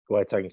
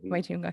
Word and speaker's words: Waitangi: And it literally says, I don't want to pronounce it wrong. Is it the Waitangi Tribunal? Waitangi Tribunal. Waitunga, Yeah.